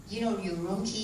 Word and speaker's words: Urumqi: Urumqi is very easy to pronounce because it is your Urumqi, not my Urumqi.